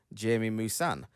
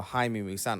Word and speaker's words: Jaime Maussan: Dozens of these specimens were discovered in the Nazca Desert by journalist and ufologist Jaime Maussan, or Jaime Maussan, I think it's pronounced, which has led to years of investigations to uncover the truth.